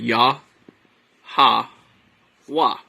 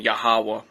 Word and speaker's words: Yahweh: And they pronounce that Yah, Ha, Wah.